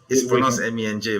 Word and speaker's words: MENJ: to ask me, sorry, it's pronounced MENJ, by the way. MENJ. MENJ. All right. It's an acronym. Yeah, it's okay. It's okay. People keep making the mistake of pronouncing my initials as MENJ. I don't know why. Okay, I think this came from David Wood. Okay, so it's actually MENJ. They are pronounced individually.